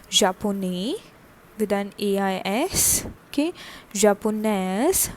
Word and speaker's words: japonaise: Okay, Japonaise for femina with an extra E and the pronunciation of the S.